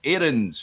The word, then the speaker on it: Aarons: It's pronounced Aarons, yes.